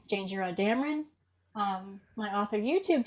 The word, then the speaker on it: Janejira: your instagram so my art instagram is called jingera draws and for those of you who are just listening my name is spelled j a n e j i r